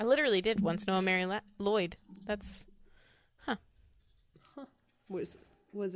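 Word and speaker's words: Mari Lwyd: listening to a podcast about it or something Mari ludd LD let's look up how to say this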